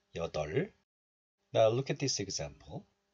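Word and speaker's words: 여덟: And this is pronounced as 덜, 덜. So we pronounce this like 여덜.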